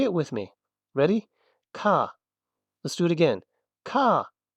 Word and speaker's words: く: This is C. It's just the K sound plus the ooh from ooh. And it sounds a bit like the coup of a bird. Coup.